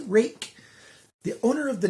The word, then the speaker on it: Ruike: boxes yes it's pronounced rake the owner of the name gets to say how it's pronounced and they said that the name rhymes with my name jake has a rake knife